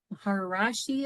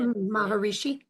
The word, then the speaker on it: Maharishi: the terminology called the and I might not pronounce this correctly. Mahar Maharashi effect. I'm not sure how to say it. Maharishi.